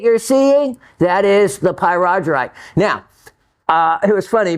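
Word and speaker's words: pyrargyrite: and um to the three different variations that were on the internet so if I actually mispronounce that or I if I said um pyite or pyro Gite those were all other ways to pronounce it but I liked the py Roger right the best um by the way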